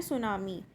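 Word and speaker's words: tsunami: इसमें टी आपका साइलेंट रहेगा, सो हम इसको प्रोनाउंस करते हैं सुनामी.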